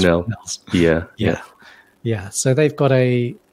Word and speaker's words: Fresnel: So some people call it Fresnels. Yeah, but apparently the correct pronunciation is Fresnels.